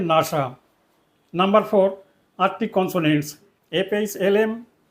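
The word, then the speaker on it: NASA: এর abbreviation নাসা এখানেও এন এস পৃথকভাবে উচ্চারিত হবে না শব্দের ন্যায় উচ্চারিত হবে নাসা নাম্বার ফোর আরক কনসোনেন্ট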